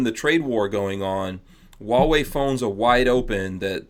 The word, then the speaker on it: Huawei: do it maybe in this last couple minutes wall way does anyone does anyone out there have a huawei phone who has a wall yeah whoa whoa